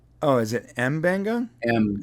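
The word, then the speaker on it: M'Benga: Mabenga? I love doing these shows with you just to listen to you say all the characters' names. All right. Mabenga is Mbenga. Oh, is it Mbenga?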